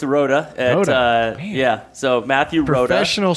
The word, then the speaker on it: Rooda: So it's Rooda.